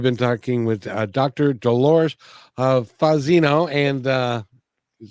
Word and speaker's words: Fazzino: Dolores Fazzino, and you said that's right, I think. Fazzino, You said it right.